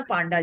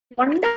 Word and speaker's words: पंडा: ठीक है, हरे कृष्ण पांडा जी। चेंज पंडा बोलिए, पांडा नहीं है, वो पंडा है, ठीक है, ऐसे वो कुछ कुछ हाँ गड़बड़ करके बोलते हैं।